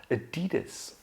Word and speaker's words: Adidas: In fact, it's a competitor of Nike, and I'm talking about Adidas. Adidas. We start this word with the caveman schwa sound. Again, a simple Then we move on to D.